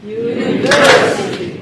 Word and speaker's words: university: So the ver is the primary stress.